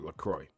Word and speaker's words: LaCroix: What sparkling water brand's name rhymes with Consular Troy? I have no idea. No idea. Oh, LaCroix.